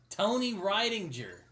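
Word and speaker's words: Rydinger: And Bob also gives him the name of Tony Ridinger, which ends up revealing how he actually knew who Tony Ryan. God damn it! I keep mispronouncing his name. Why? God, Tony Ridinger.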